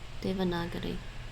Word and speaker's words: Devanagari: Devanagari. That's how they pronounce it.